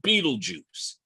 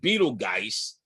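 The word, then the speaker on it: Betelgeuse: in the Hunter's shoulder there's a star called Beetle Juice it looks like Beetle GE but it is pronounced Beetle Juice I'm told but well YouTube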